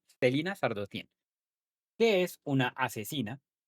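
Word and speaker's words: Celaena Sardothien: Se escribe de una manera muy rara, comoa te se alena más o menos, pero pues yo lo pronuncio como Stelina Sardotien, que es una asesina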